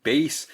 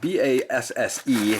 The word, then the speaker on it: Basse: And the product, the manufacturer is spelled B-A-S-S-E, so I'm saying Basse, and I hope that I am getting that right to them.